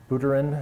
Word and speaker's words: Buterin: So CASPER is used both by Vlad Zamfir and by Vitalik Buterin, is that how his name is pronounced, Buterin?